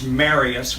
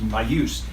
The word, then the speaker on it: Marius: a French name and it's supposed to be pronounced Marius. But it's my father's name and the one before that, and I'm the third, and they all pronounced it Marius. And so a good way to remember it is when you go to get married, you say, marry us.